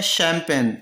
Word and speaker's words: champagne: एक वर्ड हो रहा है शैम्पेन, बहुत बार सुना होगा तुमने, लोग अक्सर कहते